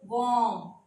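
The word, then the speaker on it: warm: से पहले वाउल था, इसी तरह से इस आर से पहले भी वाउल है तो वॉम, ये आर साइलेंट हो जाएगा, वॉम, इस आर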